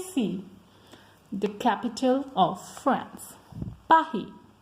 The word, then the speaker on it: Paris: And how we pronounce Paris? Paris.